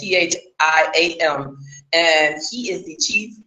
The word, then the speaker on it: Thiam: This guy, last name Diem, I might be saying it wrong though, it's Thiam.